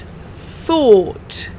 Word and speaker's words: thought: an idea for example it's pronounced like this fur and then a or sound and then it's thought thought let's try this together